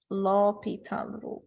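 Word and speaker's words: L'Hôpital: I just developed it H is silent no no h and S is sound low Pita rule let me just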